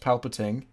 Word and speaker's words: Palpatine: It's pronounced Palpatine.